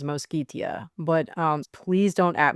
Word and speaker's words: Mosquitia: I have often mispronounced this as Mosketia and uh I believe it is Moskitia, but um please don't at me in the comments.